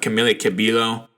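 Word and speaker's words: Camila Cabello: of people were talking about we also have camilla cabilo that's how it's pronounced uh replacing kelly clarkson on the voice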